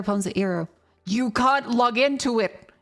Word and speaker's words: Eero: Let me show you how it's spelled. The Eero routers, sorry, that's Eero.